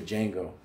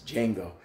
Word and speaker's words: Django: If you see the movie Django, the D is silent, so it's not the Django, it's Django.